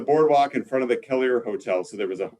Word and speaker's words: Kelliher: In Bemidji, they pronounce it Kelliher, but Kelleher, Minnesota, north of Bemidji, Kelliher.